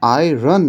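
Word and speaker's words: iron: দেখো এখানে আয়রন বলে না, সঠিক উচ্চারণটা হচ্ছে আয়রন। আরটার খুব হালকা উচ্চারণ।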